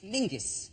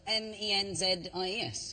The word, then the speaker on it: Menzies: Yeah, but it's pronounced, it's spelled M-E-N-Z-I-E-S. Yes. Well, why are you looking at me like I'm insane? That's Menzies. Menzies. Yeah. John Menzies. Menzies. People don't go, let's go to John Mingus.